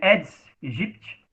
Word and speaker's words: Aedes aegypti: É o mesmo AI do Aedes aegypti, que na verdade é Aedes aegypti, tá?